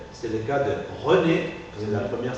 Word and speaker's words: René: C'est le cas de René, c'est la première syllabe d'un nom propre, René, Monsieur Petit, ou Monsieur Degermont. Alors, quand je parle d'un nom propre ou je lis un nom propre, et il y a